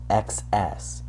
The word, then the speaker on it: XS: as much access stuff, XS. That's actually how they say it in the game. Capital X, capital S stuff. Excess stuff.